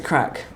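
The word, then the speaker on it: craic: with you like c-r-a-i-c guys and what's the crack did i say it right yes what's the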